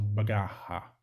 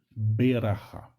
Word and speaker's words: berachá: Algumas pessoas, vocês podem escutar a expressão brachá, né? Mas a pronúncia correta mesmo é berachá.